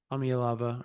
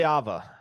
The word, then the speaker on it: Iamaleava: Jackson Arnold, Nico Amialava, or say it properly. Iamaleava. Iamaleava, Nico Iamaleava. Oh my God, I just that's Ia Ma Lee I got it.